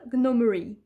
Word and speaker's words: gnome: Et je l'ai appelé Sir Sean Gnomery. Je sais que je prononce gnome à la française, mais c'est ça qui me fait marrer. Parce qu'en anglais, on n'entend pas le G, je vous l'ai déjà